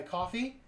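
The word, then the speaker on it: Ko-fi: And if you want to support the channel in another way, you can donate to my coffee uh that is spelled ko fi and anything you donate there goes directly into making the channel better.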